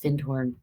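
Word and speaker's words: Findhorn: looks like fine horn it's one word but it's pronounced fin horn it was a very magical community that I highly recommend everybody read the book the fin horn Garden if you want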